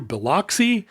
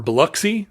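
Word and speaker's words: Biloxi: get to go through beloy or buuy I'm sorry is that right buuy buuy I think is how they say it and um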